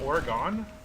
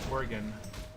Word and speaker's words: Oregon: People don't even know how to pronounce Oregon. It's like Oregon. No man, it's Oregon.